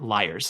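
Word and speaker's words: Lyres: Is it pronounced Lears or liars. And the little lady inside the Google box said liars. So that's what we're going with.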